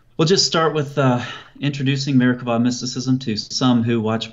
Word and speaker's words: Merkabah: It's spelled with a B-A-H at the end most of the time, but the B in Hebrew doesn't have something called a dagesh. So it's pronounced Merkabah with a V sound.